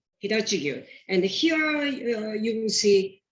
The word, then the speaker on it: Hitachigyu: And when you pronounce Japanese word, you don't use any accent. It becomes all pronounced flat, Hitachigyu, Hitachigyu.